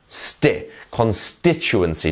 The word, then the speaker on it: constituency: to show you that here we have our strength syllable which is a St constituency not constituency and things like this it's constituency you see we should go